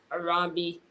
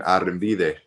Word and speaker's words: Arrambide: the first current NFL draft player Mr aromi how you doing tonight I'm good I'm good I'm blessed uh it's pronounced arid I got you okay it's it's it's always